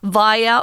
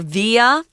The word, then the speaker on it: via: Now, before cruising back to daylight via or via, you can pronounce this word both ways, guys. It just means through that or by this way. I say via more often.